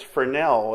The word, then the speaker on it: Fresnel: Now, it's spelled Fresnel. There's an S in there, but again, it's Fresnel. It's a French term.